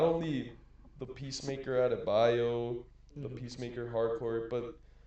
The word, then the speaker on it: Adebayo: not only the Peacemaker Adebayo, the Hmm.